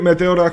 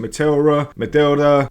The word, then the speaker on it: Meteora: I'm going to call it Meteora because I'm Greek and that is just what sounds right to me. However, you could pronounce it Meteora, Meteora, however you want to pronounce it, it's up to you.